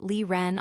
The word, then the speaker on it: Lie Ren: "And the guy next to her is Lie Ren." "Huh, and here I thought his name was Renie." Jon mused. "Wait like a lion." No, it's pronounced Lee Ren, although nice pun.